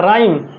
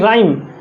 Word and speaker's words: rhyme: राइम, RHYME, इसको कई लोग हाइम बोल देंगे या कहीं रिम बोल देंगे. इस तरह से नहीं, स्पेलिंग अच्छा होनी चाहिए. RHYME, राइम, इस तरह से स्पेलिंग अच्छी होनी चाहिए.